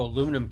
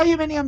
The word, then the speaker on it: aluminium: Oh, aluminum can probably want that. Yeah, aluminium. I will grab aluminium. Yes, I I aluminium is how the British pronounce it.